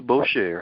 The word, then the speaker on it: Boucher: the one and only herself miss Boucher how are you today ma'am I'm doing well